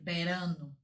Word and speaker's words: verano: É com V, mas eu pronuncio com som de B, porque o V tem som de B. Então, el verano.